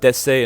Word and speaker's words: DS: The name DS, which is pronounced Déesse in French, which means goddess, is intended to remind